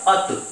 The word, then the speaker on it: अतः: अर्थात एक बार सीखिएगा, ये लिखा हुआ है अत, और यदि इसमें हम विसर्ग लगा दें तो ये होगा अतः, अतः। अतः में ये है का जो प्रोनाउंसिएशन है, जो है का उच्चारण देता है, ये विसर्ग देता है।